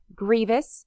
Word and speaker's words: grievous: for others to do Grievous it sounds like the word grieving and it pretty much